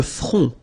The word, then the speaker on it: front: Le front. Final T not pronounced.